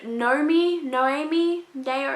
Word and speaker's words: Noemi: Follows a girl named Noemi, it's not even Naomi, it's spelled differently.